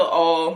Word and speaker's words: All: My name's All. My last name is pronounced like A-L-L.